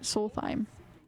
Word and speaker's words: Solstheim: Solstheim.